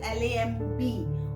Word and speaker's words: lamb: Okay, this is L-A-M-B.